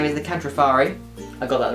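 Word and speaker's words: Kantrofarri: you so they their actual name is the catrifari i got that right yeah you pronounced it right as well uh what did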